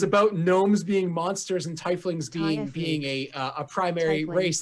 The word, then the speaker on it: Tiefling: I'm the one that's I just found pronounced wiki and it just says Thai fling that's all so this is Thai fling you hear it in the stream tie fling there you go tie fling well we